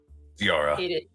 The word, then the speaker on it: Ziara: How's it pronounced? Zarara? Is it Zara? Zyra? Ziara. Ziara is how it's pronounced.